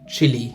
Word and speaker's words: Chile: And it sounds like the country Chile in South America. The same pronunciation, but it's written differently.